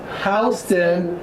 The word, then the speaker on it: Houston: said oh well like Houston did but it's pronounced Houston hey girl you're from Houston Georgia and then